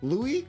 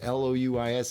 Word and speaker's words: Louis: see now look look I prefer Louis Louis but it's spelled Louie Lewis I don't know which one that is Louis in French is l-o-u-i-s is Louis in French